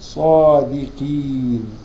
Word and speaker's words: صادقين: 32 بعد كده طيب صادقين القف دي من حروف الايه التفخيم ولكن اقل درجات التفخيم فتنطق قين صادقين طيب صادقين صادقين ده